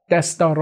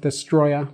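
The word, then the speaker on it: Destoroyah: best daughter oh yeah I said it wrong in this video I said destroy ax but it's actually best daughter oh yeah that's daughter oh yeah this door oh yeah four syllables yeah powerful creature you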